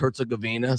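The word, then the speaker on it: Herzegovina: And for those of you who are want it's it's pronounced Herzuggavina.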